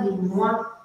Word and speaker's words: les mois: O com I, em francês, produz o som moi.